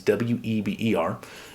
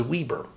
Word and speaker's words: Weber: So for example, my last name is Weber. It's Weber. And a lot of times it will be pronounced by a screen reader as Weber.